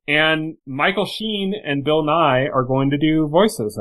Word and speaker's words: Nighy: I think they're both just pronounced Bill Nighy. Oh, okay. Just in then different spellings. Different spelling. Name, but like same pronunciation.